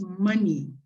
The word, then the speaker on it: money: The other word is this word is money. Como maní con acento en la A.